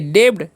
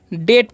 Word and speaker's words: debt: आगे लिखा हुआ है DEBT, तो इसे हम क्या पढ़ेंगे, डेब्ड। डेब्ड नहीं पढ़ना है, इसे हम क्या पढ़ेंगे, डेट पढ़ते हैं। क्या पढ़ते हैं, डेट।